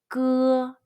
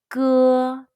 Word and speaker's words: 歌: Then remove the S and the T sound. Say 歌. Be sure to use the muscle at the very back of your tongue and your throat to pronounce the 歌.